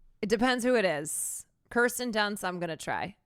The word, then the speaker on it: Kirsten Dunst: Kirsten Dunst, I'm going to try. I'm going to always try to remember that it's Kirsten Dunst.